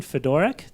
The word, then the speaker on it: Fedorak: Fedorak. Did I pronounce that right?